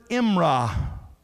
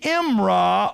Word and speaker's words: imrah: You would spell it D-A-B-A-R, dabar. And the Hebrew word imrah, I-M-R-A-H.